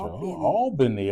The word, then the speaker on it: Albany: Albany Georgia Albany Georgia Albany okay gotta get that pronunciation right everybody know you say Al all all Ben Georgia the Southwest Southwest